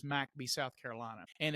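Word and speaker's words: McBee: It's about a a small town that's one square mile called I would pronounce this McB mcbe, but they refer to it as Macbby, South Carolina.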